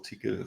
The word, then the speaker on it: Tcl: I looked into really old code with lisp and TCL or tickle some pronounce it.